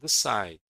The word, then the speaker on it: decide: About decide. Decide is also stressed on the second syllable.